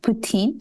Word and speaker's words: poutine: it up there what is that it's called poutine and I don't know if you have ever